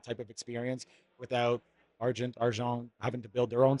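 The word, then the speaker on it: argent: enable a uh an arjon wallet type experience right that smart contract wallet so you can protect it with other needs that's a French Canadian pronunciation there yeah that's it okay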